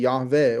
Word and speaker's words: Yahweh: Oh, I told you Yahweh is the English pronunciation. The Hebrew would be Yahave or Yhovah.